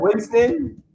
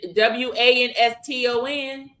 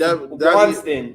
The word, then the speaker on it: Winston: Oh, you call him Winston? It's Winston, WANSTON. It's Wanston. Wanston.